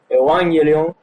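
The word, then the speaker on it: εὐαγγέλιον: La palabra Evangelio, que viene de una palabra viene de una palabra griega que se pronuncia así, Evangelion, que significa buenas noticias.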